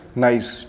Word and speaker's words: gneiss: Fifth point है जेनेसिस, ठीक है, प्रोनाउंस, ठीक है, GNEISS को प्रोनाउंस करते हैं नाइस, ठीक है, NEIC, ठीक है। इस फॉर्म्ड, ये फॉर्म जो होता है, इस फॉर्म बाई, इसमें जी साइलेंट होता है, ठीक है, इस